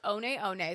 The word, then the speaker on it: One One: So it's spelled like the like the number one o sounds o ne but it's actually pronounced on on.